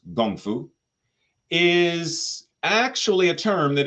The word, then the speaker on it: kung fu: practice now this word Kung Fu which is more typically pronounced gongfu is actually a term